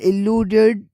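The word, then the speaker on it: elude: अब इनकी प्रोनाउंसिएशन में जो फर्क है वह अगर उर्दू साउंड से देखा जाए तो जो ए से स्टार्ट होता है उसके अलूड होता है प्रोनाउंसिएशन मिडिल वोवेल और स्ट्रेस में फर्क है अ लूड और ई से जो स्टार्ट होता है वो इ लूड ई लूड स्टार्टिंग वोवेल और स्ट्रेस में फर्क है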